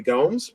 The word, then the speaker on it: Gomes: And we've actually had some of our Brancy slackers, win some money, namely Henner YYZ, aka Henry Gomes, rhymes with Holmes, and Lil Stevie, Steph Lova, Steph Torres, love her, fan favorite.